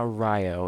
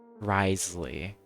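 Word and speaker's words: Wriothesley: for a quick second it's not it's not Rio it's Risley hell um but yeah risle VA goated with uh with given you know Risley really good personality we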